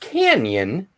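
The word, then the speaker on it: Cañon: in canon city colorado it's actually pronounced canyon it just looks like cannon i learned that on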